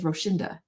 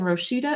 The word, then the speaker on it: Roshida: 100% of the time, if someone says Roshinda, it's a white person in America. And I've never quite figured out why Roshinda makes more sense to them phonetically than Roshida, especially when there's no N in the word at all.